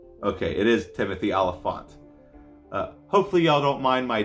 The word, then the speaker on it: Olyphant: you say his name okay it is Timothy Olyphant hopefully y'all don't mind my distortion of trying